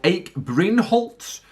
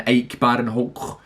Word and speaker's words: Ike Barinholtz: There's a guy in it who I think is called Ike Brainholtz, which is a very interesting name, and ashamed that I had to pronounce it like that and murder the pronunciation.